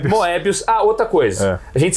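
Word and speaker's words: Mœbius: Mas você tem que falar Moebi, aí você lembra, Moebi.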